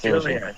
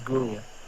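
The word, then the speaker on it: Giulia: Jia came out first Julia Julia okay for some reason I'm reading it as gulia he pronounced this Jay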